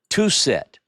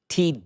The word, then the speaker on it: Twosret: And one of the things they found at about that place is a cartouche of Queen Tusret, actually, Twosret. It's spelled variously.